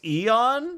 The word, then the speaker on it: Eon: That's how you pronounce his name. It's Eon.